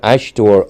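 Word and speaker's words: aisteoir: there no no sorry I was going to spell it ash oh ashor yeah sorry yeah Ash a i s t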